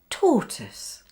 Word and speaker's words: tortoise: And one more, it's the word tortoise. The OI spelling is pronounced like this. Tortoise.